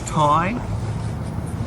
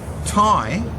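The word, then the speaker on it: Tadhg: And Ty, spelled T-A-D-G-H, can also be translated as Thaddeus, Theophilus, Theodosius, and it was anglicised as both Thady and Teague, pronounced Taig, T-A-Y-G. That's how you would spell it phonetically.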